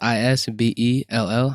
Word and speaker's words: Isbell: The last name is Isbell. I know it's spelled a little weird, but that's how you spell it.